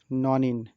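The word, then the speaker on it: nonene: এই শ্রেণীর যৌগের নামের শেষে ইন উচ্চারিত হবে, যেমন অকটিন, ননিন।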